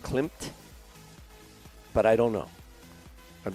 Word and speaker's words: Klimt: Good thing you pronounced the M. Yeah. Yeah, I mean, if in fact the M was silent, I would have pronounced it without the M because that is a name.